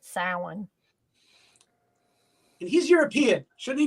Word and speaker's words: Samhain: That's the actual pronunciation of it, Samhain.